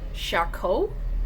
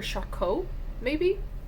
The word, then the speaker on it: Charcot: Charcot? I guess there's a T at the end, but with French you don't usually pronounce that. So Dr. Charcot, maybe?